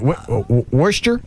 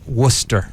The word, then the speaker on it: Worcester: Is it Worester? Worcester. Worcester Mass.